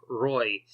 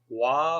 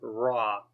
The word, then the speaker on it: Roy: last name wrong, but for the longest time I called him Patrick Roy. But because he's Canadian, I think French-Canadian, it's said different. I think it's Patrick Roy or Raw, something like that.